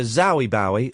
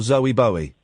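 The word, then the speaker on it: Zowie Bowie: It was either Zoey Bowie or Zoe Bowie. It's spelled Z O W I E Bowie.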